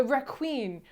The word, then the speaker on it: requin: so bad so yes the raqqueen which we found out is how you say shark in french yes and vietnam was